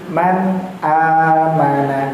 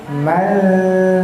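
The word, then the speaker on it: مَنْ آمَنَ: Man amana, jangan sampai menjadi man atau mal, beda nun sukun yang idgham, nun sukun yang ikhfa itu salah, karena dia bertemu huruf alif. Benar sekali. Itu termasuk huruf yang izhar.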